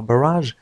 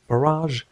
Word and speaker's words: barrage: هنا barrage تعني وابل من, يعني إطلاق عدد كثير من الصواريخ rockets, وهذه الكلمة تنطق بالإنجليزية الأمريكية barrage وبالإنجليزية البريطانية barrage, هذا هو النطق barrage. باراج بالبريطانية, باراج بالأمريكية.